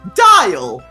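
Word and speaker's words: Dyal: your name will be dial yeah that's great and a little name plate appears under you that says dial spelt with a y you mean like smile there you go yeah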